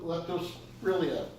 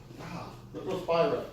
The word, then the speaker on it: Leptospira: Treponemia, Oriella, and Leptospirea. Leptospira, not Spirilla.